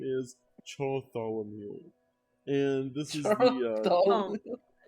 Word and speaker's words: Bartholomew: The LA is silent in Bartholomew.